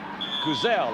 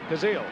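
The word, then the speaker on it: Kuziel: blocking him now that's bob kuzell am i pronouncing that right kaziel gazelle i was close the center there took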